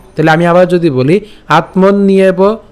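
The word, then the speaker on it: আত্মন্যেব: আবার একটা একার আছে, তা আমরা জানি যে জফলা যদি থাকে তখন সেক্ষেত্রে আমাদের উচ্চারণটা কেমন হবে? ইয়র মতো হবে। তাহলে ইয়র মতো হলে এবং তার সাথে যেহেতু আমাদের একার আছে, তাহলে উচ্চারণটা কী হয়ে যাবে? ইয়েব, ঠিক আছে? মনে রাখতে হবে ইয়েব। তাহলে আত্মন নিয়েব, একসাথে উচ্চারণ করলে আত্মন নিয়েব।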